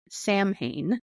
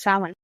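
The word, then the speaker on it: Samhain: Pagan Festival sa um which is not spelled like sa it's spelled s a m h a i n Sam Hae but it's sa and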